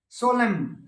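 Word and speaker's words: solemn: फिर साइलेंट एन, सोलेम न नहीं बोलना है, सोलेम, ओटम, ओटमन नहीं, ओटम AUTUMN।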